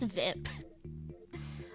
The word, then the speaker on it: VIP: mik asks oh what's VIP uh he pronounced his the acronym is a word rhyming with zip the P you say